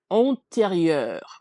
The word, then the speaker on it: antérieur: combination eur, it gives us this open sound, er, Uh, er, er. So we're intelligible. basically, if we were breaking it down by syllables, the IEUR, it's not necessarily one piece, if that makes sense. It's technically RI, ri, and then we have Mhm. our next syllable, EUR. So rieur, antérieur.